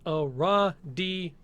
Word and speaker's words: Aradia: to Aradia s-- it's it is pronounced a raw d okay here we go